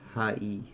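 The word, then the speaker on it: はい: The word hi is actually pronounced as hai.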